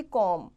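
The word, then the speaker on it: comb: जैसे कि कॉम। तो यहां पे बी जो है क्या है? साइलेंट है।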